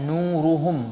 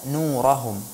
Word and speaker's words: نورهم: Seharusnya kita membaca nuruhum bukan nurahum, tapi Mbak Siti membacanya dengan nurahum ya.